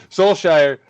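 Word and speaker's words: Solskjær: it yeah I always I always forget the how to get rid of the K Soul Shire uh basically said that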